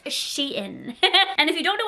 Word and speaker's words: SHEIN: like that it's Sheen are you becoming a pronunciation teacher it's she in and if you don't know what Sheen is